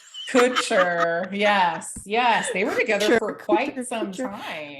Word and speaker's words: Kutcher: But then her with Ashton Kutcher, and I know I'm saying his name wrong. Kutcher.